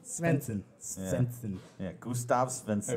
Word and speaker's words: Svensson: Stevenson? Stevenson. Oh, Svensson. Svensson.